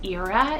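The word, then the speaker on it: Eira: So E-M-R-Y-S and Ira, E-I-R-A. Now, Ira can also be pronounced as Ira. It's a Welsh name, so I believe you can do either or, but Emrys means immortal and Ira means snow.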